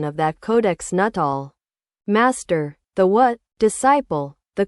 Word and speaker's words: Nuttall: pronunciation of that Codex Nuttall? Master, the what? Disciple, the Codex Nuttall, how is it pronounced? It's written as Nuttall in the letter, but what's the pronunciation in Nahuatl? Master, it's the same.